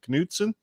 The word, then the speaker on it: Knutsen: Is it Knutsen? Is that how you say your last name? Very good pronunciation. That's exactly how you say it. See, I would have figured you had a silent K because, Oklahoma always says